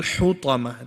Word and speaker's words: الحطمة: Fil hutama. This one's a bit of a hard word because there's a ha. So you'll say it like this.